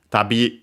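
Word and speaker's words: 旅: Tabby. Uh this one we have seen for sure accented on the last syllable on its own.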